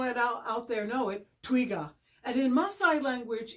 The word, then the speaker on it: twiga: Well, in Kiswahili, the word for giraffe is, I'm sure some people know it out there know it, twiga.